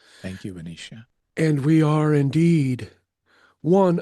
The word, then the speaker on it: Baneesha: And while our name is not pronounced in human form, you may call us that Benicia and we shall associate with it. Thank you Benicia.